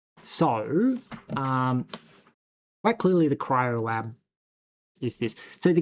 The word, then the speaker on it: cryo: So, 0x, FF, FF, FF, FF is not white, it is cryo. See, cryo. That feels wrong. That doesn't feel like that's how it's spelled.